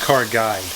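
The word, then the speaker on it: Car Guyd: If any of y'all are wondering, it's pronounced car guide, as in car, guy with a D at the end. It's a play on words, kind of like guide, G-U-I-D-E, or guide, G-U-Y-D.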